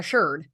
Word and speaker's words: sherd: Not a shard, a sherd. Right. So she's pronouncing it right.